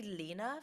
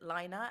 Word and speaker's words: Lena: I've been like for I say Lena for Lena Kitty and I know that she says it Lina and I cannot get